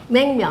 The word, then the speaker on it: Naengmyeon: Naengmyeon. Naengmyeon.